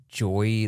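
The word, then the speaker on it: Joie: another like unpronouncable name it's Joy like j o i e like disc container or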